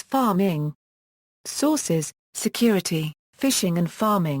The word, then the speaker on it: pharming: See also DNS cache poisoning IT risk Mutual authentication Page hijacking References [p] - ^The word "pharming" is pronounced as "farm-ing".